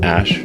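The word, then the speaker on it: Æ: called x-a-12 letter x the ae is pronounced ash and then a12 a12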